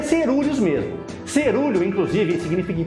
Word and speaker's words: coeruleus: O cerúleos se escreve desse jeito e se pronuncia cerúleos mesmo. Cerúleo, inclusive, significa em português da cor do céu e da cor do mar. Se você quiser falar errado ou aportuguesado, fala coeruleus, tá? Não fala coerelos porque nem dá pra saber de onde sai